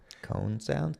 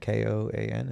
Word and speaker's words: Koan Sound: Cone Sound? Koan? Is it Cone Sound? Yeah. Do you pronounce it Cone?